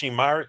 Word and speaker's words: Myrick: and we're talking about Nashim Myrick. That's how you pronounce his last Nashim name.